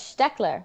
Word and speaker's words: Steckler: And then when I asked Kata, she said, no, it's Steckler.